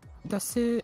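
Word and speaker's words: です: Japanese, the writing is different, like because desu is translated differently in like death Osaka. desu for people who don't know. So desu is normally pronounced des, but in like the south of Japan they say yan instead of des.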